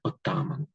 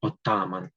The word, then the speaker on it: отаман: Він знайомий пана а Зверніть увагу на наголос у слові отаман правильно робити саме таким чином на другу на другий наголос тобто на другу букву на першу букву а отаман отаман а отам будьте